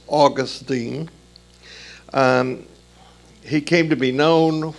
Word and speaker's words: Augustine: That's the correct pronunciation of the word, not Augustine. It's Augustine.